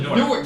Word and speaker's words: Newark: It's pronounced Nork. You said the same thing 3 times. No, Nork. I call it Newark. Nork.